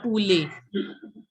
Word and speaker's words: poulet: See, you have to recognize the sounds. Like wherever there's OU, you will have to pronounce it as U. So it will be Poulet. And ET instead of ET, you will say, pronounce it as A. So Poulet, Le Poulet.